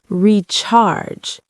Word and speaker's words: recharge: Pronunciation tip. Recharge. Not recharge. Soft first syllable.